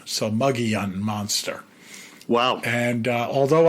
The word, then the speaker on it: Mogollon: o n the Mogollon Monster, but apparently it's pronounced Muggyun. So, Muggyun Monster.